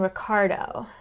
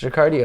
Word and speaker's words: Ricardio: I really keep wanting to call him Ricardo. That's not right. It's Ricardio. It's spelled right there.